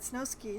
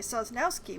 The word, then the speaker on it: Sosnowski: later and found that snowski had pheromone injections done to protect against insects sorry sosnowski why do i keep not reading that one syllable but not against arachnids